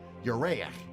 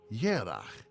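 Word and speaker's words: ירח: This is also why Hebrew for month is written like the Hebrew for moon, though the two words are pronounced differently.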